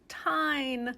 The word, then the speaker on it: TIJN: It's not on their website, but it is in fact pronounced TIJN.